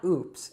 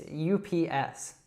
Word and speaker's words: UPS: So as I said before, we usually don't say this as a word. So it's not oops, it's UPS.